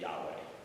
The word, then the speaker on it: Yahweh: turn them into English it would be like YH wh um or yhbh um but there's like a whole history of how you got vowels in there and stuff but probably the best uh pronunciation would be Yahweh but U yeah so